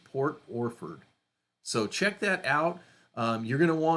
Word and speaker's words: Port Orford: And that sounds just like it's spelled, O-R-F-O-R-D, Port Orford.